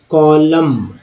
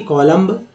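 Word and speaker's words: column: अब देखिए ये है कॉलम, कॉलम, कॉलम है ना कि कॉलम्ब। क्रम्ब, क्रम्ब नहीं पढ़ेंगे, क्रम पढ़ेंगे, क्रम लिखेंगे समझेंगे जरूर ही, पढ़ेंगे क्रम, यानी बी जो है सभी जगह बी साइलेंट है।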